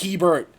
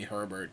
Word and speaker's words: Hebert: Tommy I'm like also Tommy it's Hebert I ain't angry about it though LOL everyone makes that mistake throughout my life literally my entire life people have like mispronounced my name and called me Herbert I don't know what